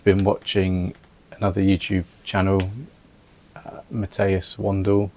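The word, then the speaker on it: Matthias Wandel: So, I'd been watching another YouTube channel, Matteas Wandle, I believe is the right pronunciation, and I'll leave a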